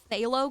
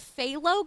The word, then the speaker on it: phthalo: Is it phthalo green? Phthalo green. I'm assuming the ph is like flem. That's why I'm saying phthalo.